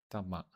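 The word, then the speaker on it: dama: The second Dhamma quality of the 4 is called Dhamma, which sounds very similar to Dhamma. It's a different word completely. So this word is spelled D-A-M-A as opposed to Dhamma, which is D-H-A-M-M-A.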